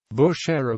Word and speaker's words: Bushehr: bush-era bushy pronunciation also romanized as band are Bushehr and